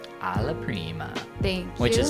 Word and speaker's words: alla prima: Well, it is alla prima, but when you say it, you say 1, allo primo, and 2, you say